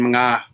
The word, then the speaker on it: mga: I pronounce the NJ and yeah, it's Nang and Mga.